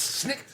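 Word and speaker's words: Snikt: thing was um Wolverine Snick which is in case I mispronounced that it's Snick yeah it's the it's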